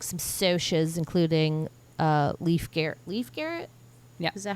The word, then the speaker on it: Leif Garrett: Leif Garrett?